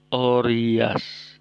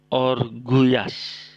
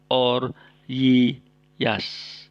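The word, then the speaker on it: ὀργυιάς: Orias, bukan orguyas. Nah, mungkin ada yang membaca orguyas, tapi ini kurang tepat ya. Jadi yang benar cara membacanya adalah oryas.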